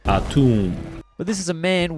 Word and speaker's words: Atum: the one being called Autumn, though if that's named after the Egyptian deity, I don't think that's normally how it's pronounced. ATUM.